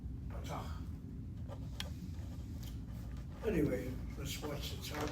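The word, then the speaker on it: פתח: And the accent should be on the last syllable. Patach.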